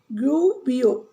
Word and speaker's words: Gubbio: How you will pronounce? Gubbio.